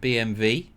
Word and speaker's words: BMW: And BMW. Obviously, as V is pronunciation for W.